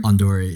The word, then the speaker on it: Ondori: How's Founder of, how do you pronounce it? Ondori? Ondori.